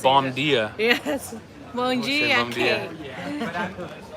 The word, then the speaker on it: bom dia: Kate says bon dia. I almost lost my Oh my Brazilian god, you almost said pronunciation. bom dia.